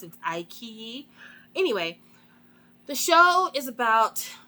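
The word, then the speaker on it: iQIYI: I fig I finally figured out how to pronounce it I key anyway the show is about college students it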